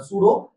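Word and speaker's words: pseudo: सूडो सूडो spelling P silent है।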